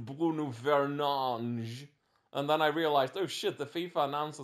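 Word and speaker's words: Fernandes: Bruno and he was like my name is pronounced bu fange and then I realized oh the FIFA announcers actually got it right because they've always been calling him fange they have hakeemi and a oh no well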